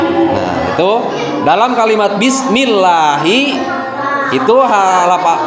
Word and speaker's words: bismillahi: Nah, itu dalam kalimat bismillahi itu lafaz Allahnya itu didahului oleh harokat kasroh, maka harus dibaca tipis. Jadi kalau dibaca tafhim, kalau dibaca tebal, jadi bismillah salah, pembacanya salah. Tapi yang betul itu adalah cara pembacaannya adalah bismillahi.